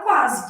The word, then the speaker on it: quase: Então, estou lá na palavra quase, que deve ser minha resposta, né? O U é pronunciado quá. O S tem som de Z aqui.